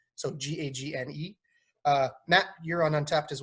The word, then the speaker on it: Gagne: So myself, you could follow me on Untapped at Gagne, Gagne, not like Vern Gagne. It's spelt the same as Vern Gagne, but it's actually pronounced correctly, Gagne. So Gagne.